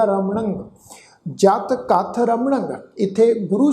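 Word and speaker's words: ਰਮਣੰ: रारा मम्मा नाणे अखर उत्ते टिप्पी की मात्रा का नासक उच्चारण होएगा रमणंग।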